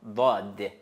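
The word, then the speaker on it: ضاد: Même Rasoul Khuda, dans un hadith, il a dit, c'est lettre va, dod. Dod, cela veut dire après sad, c'est dod.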